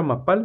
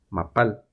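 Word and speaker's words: מפל: una caída de agua dos sílabas ma vamos a formar como siempre mem y una AC corte la segunda pal vamos a utilizar la letra número 21 como tiene punto Pues nos hace el sonido de p la a cort Y por último la lam letra número 14 mapal caída la otra palabra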